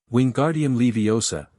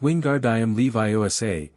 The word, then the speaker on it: Wingardium Leviosa: "Wingardium Leviosa!" he shouted, waving his arms like a windmill. "You're saying it wrong," Harry heard Hermione snap. "It's Wingardium Leviosa. Make the 'gar' nice and long."